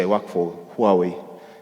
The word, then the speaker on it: Huawei: say I work for Huawei some people say who are we so different people pronounce it differently so we have the